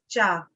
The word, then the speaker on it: च: Okay, that CA is pronounced as cha.